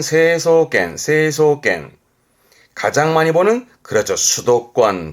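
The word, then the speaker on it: 成層圏: 성층권, 발음은 세소겐.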